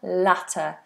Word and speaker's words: latter: Later, latter. One has a diff thong later. I'll see you later. And latter is a short vowel.